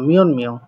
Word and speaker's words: 몇 명: এটা এখন এই যে আমি আপনাদেরকে বলেছিলাম ত বর্গীয় বর্ণের পরে যদি নিউন অথবা মিউন আসে সেক্ষেত্রে ত বর্গীয় বর্ণটা দন্ত ন হয়, সেই অনুযায়ী এটার উচ্চারণ হচ্ছে দন্ত ন মিয়ন মিয়ং অর্থাৎ কয়জন।